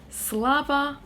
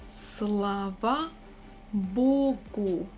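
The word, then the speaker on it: Слава Богу: next one however we have the opposite phrase slava vogo sla va slava bogo slava bogo literally it means thanks god we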